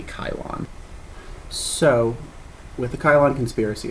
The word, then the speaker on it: Cylon: I know it says Cylon, and I really want it to be Cylon, but apparently there's no soft C in Greek, and it would be Kylon.